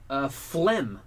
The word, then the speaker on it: phlegm: He knows a silent G when he sees one.